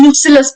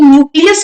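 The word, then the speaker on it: nucellus: यहाँ पे ओव्यूल के मिडिल में आपको देखने के लिए मिलेगा न्यूसिलस पार्ट। ये न्यूक्लियस नहीं है, इट इज न्यूसिलस, इसकी स्पेलिंग भी डिफरेंट है, बहुत इंपॉर्टेंट है न्यूसिलस, राइट।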